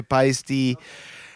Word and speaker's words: Paiste: It's Paiste, not paste.